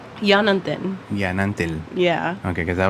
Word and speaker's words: Yanantin: Yanantin.